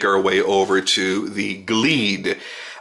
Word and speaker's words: Glede: way over to the glede I'm assuming that is the correct pronunciation it's GL e de and what you're getting